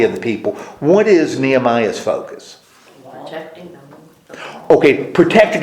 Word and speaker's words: Nehemiah: start talking about last week how do you pronounce his name well Nehemiah we start talking about Nehemiah and Nehemiah if